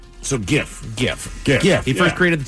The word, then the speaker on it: GIF: I invented it to say something like GIF. Uh, think of the peanut butter brand if it helps.